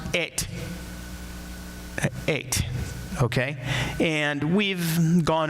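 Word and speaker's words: את: If you're reading Hebrew, it's pronounced et.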